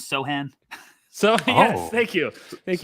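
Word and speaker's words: Sochan: here by saying that the pronunciation is sohan so yes thank you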